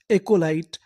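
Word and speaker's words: acolyte: और आखिरी में लिखा है टी ई। इसे क्या पढ़ना है? ट। क्योंकि आखिरी में लिखा है इ ई का हमें उच्चारण नहीं करना।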